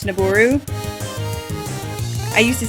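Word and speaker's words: Nabooru: of it wrong like uh I used to pronounce the name of the sage nebaru like nebu and it's naboru I used to say de tree and it's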